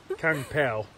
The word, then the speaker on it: Kung Pao: I've got the name wrong, like Kung Fu Chicken. Kung Pao. Kung, but yeah.